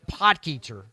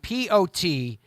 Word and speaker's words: Potgieter: The story of Aldrich Potgieter, and that is how you say his name. It's Potgieter. He's from South Africa.